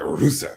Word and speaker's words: Rusev: Rusev.